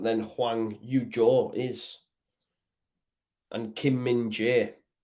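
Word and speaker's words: Kim Min-jae: Huang yujo is and Kim minje not Ming J Kim but that whole back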